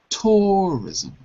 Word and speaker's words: tourism: new development includinga touris here's the problem you you you're saying tourism wait wait touris tourism tourism put it on the first syllable tourism tourism that's it yeah okay T so